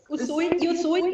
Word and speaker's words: Usui: discuss the Reiki of, is it Usui? Usui, yes. Usui.